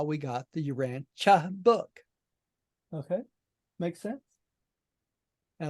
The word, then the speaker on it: Urantia: the book like urania why is it not pronounced Urantia right it's because the contact Commissioners heard the